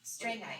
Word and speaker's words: Strangite: Is it pronounced strange? I always pronounce it Strang. Strangeite. Because James It's not strange. It's Strangeite.